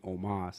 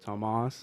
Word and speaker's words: Tomas: say my name right they were saying Omas instead of Tomas hey I like Omas